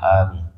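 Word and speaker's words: آمين: Kemudian hendaknya dia mengatakan setelah doanya amin. Kita baca amin. Amin. Apa erti amin? Ni cara baca amin panjangin a dua harakat. Amin. Jangan amin. Sudah aman jadinya.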